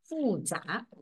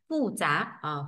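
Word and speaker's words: 复杂: từ này phức tạp đọc là phu trả phu trả nh phên âm này phu Thanh bốn trá thanh hai phu trá phức tạp đấy thì gọi là phu trá này vậy cơ cấu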